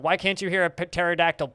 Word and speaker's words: pterodactyl: can't you hear a pterodactyl p it's because the p is silent yes but i will